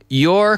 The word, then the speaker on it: you're: the content is um you're completely right. And we're using the contraction here, you are becomes your, your. Your. You're completely right. And the pronunciation is the same as your as in the possessive.